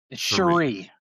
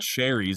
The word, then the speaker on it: Cherie: Cherie. Cherie Devaux. It's not cherries. It's not cherry Coke here.